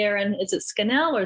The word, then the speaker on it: Scannell: correctly aaron is it schnell or scannell it's scandal rhymes with channels i love it and